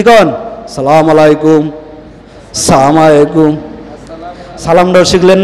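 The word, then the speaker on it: السلام عليكم: দেই সালামের মত ভুল কি কন আসসালামু আলাইকুম আসসালামু আলাইকুম সালামটাও শিখলেন না সবাই বলেন হামজার উচ্চারণটা ক্লিয়ার আসসালামু আলাইকুম আসসালাম আসসালামু আলাইকুম এই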